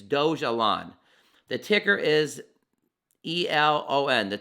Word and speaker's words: Dogelon: Pronounce Dogelon, not Doge Elon, because the word wouldn't be. It's Dogelon.